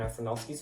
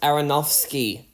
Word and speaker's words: Aronofsky: on many of Darren afronovski's films Aaron ask it is pronounced Aronofsky you dumbass I was